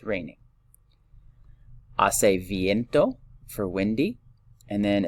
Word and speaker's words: hace: So this one is hace calor. Hace calor. Again, remember our H. We do not pronounce our H in Spanish. This isn't hace calor, right? Hace calor. The H is silent.